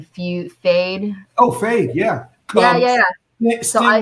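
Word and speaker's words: Feyd: Fade.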